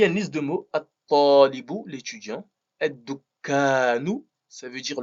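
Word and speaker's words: الطالب: Donc dans la prononciation, on ne dira pas al-talibu, mais at-talibu.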